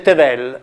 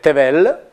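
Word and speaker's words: תבל: Se noi mettiamo una E ebraica, sono esempi biblici, si legge tevel e significa terra, universo, mondo. Se mettiamo un'altra E, cioè aggiungiamo un puntino qui, si legge sempre tevel, ma significa rapporto sessuale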